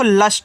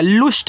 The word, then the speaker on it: lust: LUST, तो इसका उच्चारण तो करना नहीं, ये आपका देखो लस्ट हो जाएगा। लुस्ट नहीं पढ़ना है, लस्ट पढ़ना है, क्योंकि UST आपका अष्ट है।